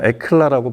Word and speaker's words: Hekla: 이름이 헤클라. 프랑스 발음이니까 아마 에클라라고 발음을 할 수도 있고, 이 영상이 나가는 오늘이 바로 이 제품을 전 세계에 공개하는 첫날입니다.